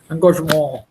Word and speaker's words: engagement: It's a French word. नाक बंद करके बोलना है. Any French word, you have to keep your nose closed and pronounce it. Engagement.